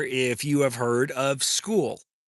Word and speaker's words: Skool: you have heard of School. Who has heard of School? And it is spelled Skool.